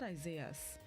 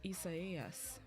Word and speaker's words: Isaias: It's not Isaias. It's Isaias.